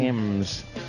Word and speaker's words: Thames: Over the, how do you say it? The Thames, the Thames River in London. Thames. Yeah. Then how about we get rid of the H if it's Thames?